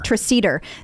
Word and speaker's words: Treseder: Treseder.